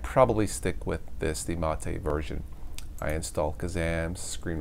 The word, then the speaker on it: MATE: And according to the website, this is pronounced mate in spite of it being spelled the mate.